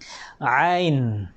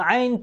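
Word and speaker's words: ع: At kabilang ito talaga sa mga letra na mahirap bigkasin. Okay? Mahirap talaga bigkasin. Ain. Ain. Yung sabi nga nila ay talagang parang sumakit lang yung lalamunan kung paano mo siya bigkasin.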